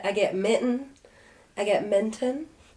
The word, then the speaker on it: Minton: I get Minton. But it's like Minton. mint and on. Right? Yeah. That's how it's spelled? Mint and on, yes. Mint and on. Not we're mitten.